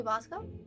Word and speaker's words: Basco: like how I always know who he is because my brain goes, it's the dude who rhymes with Tabasco.